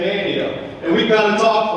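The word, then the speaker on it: Manteo: This is kind of like Roanoke Island in Manio. And we say Manio, even though it's M-A-N-T-E-O. English teachers, the T is silent. We say Manio.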